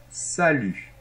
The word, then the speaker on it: salut: donc très bien et attention la lettre T finale ne se prononce pas et ça c'est très